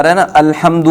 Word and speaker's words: الحمد: آ رہا ہے نا، الحمد میں حمد، حمد کی جو ہا ہے، عموماً لوگ اس ہا کے تلفظ میں غلطیاں کرتے ہیں۔ عموماً جو خواتین خاص طور پر یا جو مرد تجوید سیکھے ہوئے نہیں ہوتے وہ یہاں غلطی کرتے ہیں، کہتے ہیں الحمد، الحمد نہیں پڑھتے بلکہ الحمد پڑھتے ہیں۔